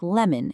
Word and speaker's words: lemon: And you'll find it at the end of words like lemon and bacon where the O just kind of relaxes into that soft un sound.